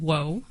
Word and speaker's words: WO: the virus is called wo and that's spelled capital W capital O like wo wo and whoa exactly and it infects